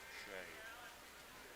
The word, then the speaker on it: Sieh: Last name is Sieh, and it's pronounced Shay.